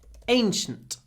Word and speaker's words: ancient: y lots of Y ancient and then the last part of it sounds like that shent Ancient anent Ancient Ancient and actually